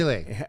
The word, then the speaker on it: Milei: How do you pronounce his Javier last name? Milei.